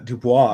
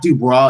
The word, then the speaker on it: Du Bois: It's not Dubois, it's Du Bois.